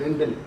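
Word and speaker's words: Rijndael: So this name RINJDAEL, Rindel, is pronounced as Rindel.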